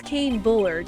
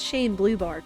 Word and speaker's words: Kane Bullard: wrong worse and worse that's Kane Bullard not Shane blueart pal oh yeah the